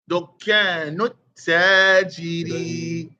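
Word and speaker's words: دكان التاجر: That's the sun letter, brother. Alif Lam is written and not pronounced. So Dukkanut. Nut. He's stopping on the tap. Dukkanut. Dukkanut tajiri. Dukkanut tajiri, because Alif Lam is there.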